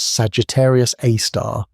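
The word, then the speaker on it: Sagittarius A*: Known as Sagittarius A, pronounced Sagittarius A star, this super massive black hole contains about 4 million times the mass of our sun.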